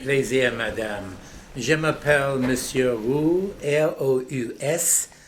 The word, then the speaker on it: Roux: Je m'appelle Monsieur Roux, R-O-U-S. On prononce ça Roux en français, mais ici aux États-Unis, c'est Rouse.